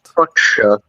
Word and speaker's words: fuchsia: That's an F-U-S. Like it goes into a sh sound. Fuchsia.